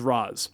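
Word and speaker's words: Ra's: is in spoken media it has been said both ways yeah so depending on what your first batman introduction was that has become your pronunciation of raise versus raz exactly i get i get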